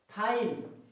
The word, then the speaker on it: find: जैसे कि यहाँ पे फाइन, FIND, फाइन, क्या पढ़ेंगे इसको? फाइन। ये नहीं पढ़ना है, फिंड नहीं पढ़ना है, क्योंकि इसका उच्चारण गलत हो जाएगा।